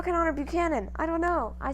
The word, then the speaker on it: Buchanan: the delegates finally chose james buchanan buchanan book pronounced by manny buccanon who was muscular white-haired